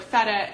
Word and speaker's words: feta: And the last sound in the word feta is a schwa sound, which sounds like feta, feta, feta cheese, feta cheese.